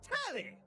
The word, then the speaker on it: Telly: The name's Telly. Rhymes with Nelly. Like, whoa, Nelly. Did you know Telly offers 5,000 channels like an analyst?